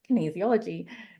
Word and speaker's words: Kinesiology: them that it's easy so you say easy and then put a kin in front kin easy and then ology on the end uh that's how you pronounce Kinesiology and uh you really